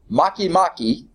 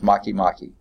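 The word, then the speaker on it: Makemake: I think it is Maki Maki YUM a ke ma ke is like make mate but I think it's pronounced Maki Maki and Haumea H a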